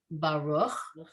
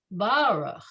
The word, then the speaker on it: Baruch: yeah, So the way we say the word Baruch, the emphasis is on the second syllable, but when they sing it, it's Baruch.